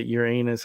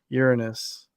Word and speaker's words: Uranus: uh your anus but I don't say your anus I say Uranus because that's the right pronunciation of the planet yeah so um but